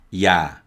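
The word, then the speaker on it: ㅑ: ah and this is ya ya ya is written like this now this extra dash represents a y sound and there are also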